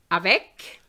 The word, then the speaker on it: avec: active tip number nine pronounce the final c with the following words avec which is with donk therefore chic